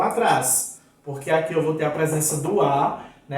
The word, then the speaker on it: atrás: Então, se você fala, ele está atrás de você, você não está falando da maneira que devia. Ele está atrás. O A tem que ser pronunciado. Eu tenho que ouvir o som. Então, é atrás, trás.